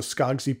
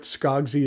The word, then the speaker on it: Skogsy: currently the only place you can purchase a skagsy pen is through their Instagram page I'll put a link to it in the notes below or you can search for it skogzi is spelled s-k-o-g-s-y I paid 250 for this